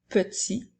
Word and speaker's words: petit: J'utilise le mot petit lorsque le mot est au masculin. Alors, il s'écrit P-E-T-I. La dernière lettre T est une lettre muette.